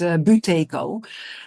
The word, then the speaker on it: Buteyko: Um, I don't know exactly how that pronounces in Russian, but the Dutch pronunciation is Buteyko.